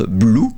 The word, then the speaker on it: Bloo: en l'occurrence marseille or blue ça s'écrit bl 2 o mais ça se prononce blue oui donc pourquoi bl